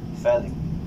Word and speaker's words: Felip: Kasi kung paano binibigkas ng parents ko yung name ko, it's Philip. Philip.